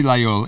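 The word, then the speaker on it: Laguiole: If you ever see Lagulole, it's spelled with a G, so it's a little bit confusing. L-A-G, Lagulole.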